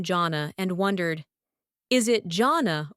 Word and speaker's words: Jonna: Hi, I'm Janna. English. Hi, I'm Janna. Nordic. Hi, I'm Jana. Common mistakes. Don't say Jonah. That's Jonah. and keep the stress on the first syllable.